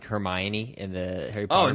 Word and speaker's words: Hermione: Well, wasn't that the thing too with like Hermione in the Harry Potter? Oh, nobody books? knew how to pronounce I it. have in friends North who America. pronounce it Hermione.